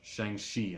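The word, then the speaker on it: Shang-Chi: respect February 12 2021 Shang XI and you pronounce it she somewhere between a chill and a show in the legend of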